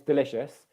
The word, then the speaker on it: delicious: Grace also said the second syllable, so Grace heard it right, it's delicious.